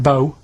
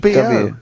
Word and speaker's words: B.O.: Like rain is the weather, and it smells like bow. Body odour. Body odour. So it's B.O. It's B.O. That's It's pronounced B.O.W.